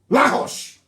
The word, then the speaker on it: Lagos: And it was the Portuguese that named Lagos dustbin. Lahos. Lahos, that's the correct pronunciation.